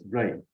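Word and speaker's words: Jui: And I don't know why my name spelling is J-U-I, but it's pronounced as Ray, like R-E-I or I-O-I.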